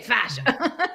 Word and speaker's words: fascia: you're probably the most expert yeah FAS okay fascia and fascia and on how to say fascia oh yeah on what so fascia is the body trim on the house is fascia but your tissue is fascia that's right because